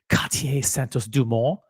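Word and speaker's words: Cartier Santos-Dumont: Dress watch of the year, a tie between the Cartier Santos Dumont. I'm pronouncing it in French. Cartier Santos Dumont, yellow gold, wood dial, and the Rolex 1908 with the Setimo bracelet.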